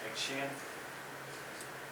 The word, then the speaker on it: Ekshian: My name is Ekshian. It's spelled Ekshian, E-K-S-H-I-A-N.